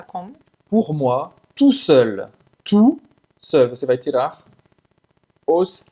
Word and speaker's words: tout seul: Não pronuncia o T no final de tu para o homem e para a mulher.